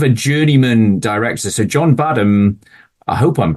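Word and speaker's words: Badham: journeyman director so John badam I hope I'm pronouncing his uh his name right it's it's just bad ham uh so yeah John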